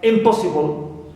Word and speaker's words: impossible: have the prefix in like impossible so here PO is stress but is neutal no stress on it also Immortal right Immortal